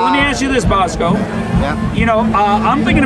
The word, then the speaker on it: Bosko: Bosko.